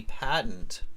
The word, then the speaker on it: patent: What does it mean to apply for a patent? Okay. It says patent officers, not patent. It's patent. The pronunciation, careful. Patent, not patent. Patent.